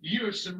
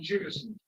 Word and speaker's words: Jewison: But he did reveal to all of us broadcasters that his first name is pronounced Ewerson rather than Jewison.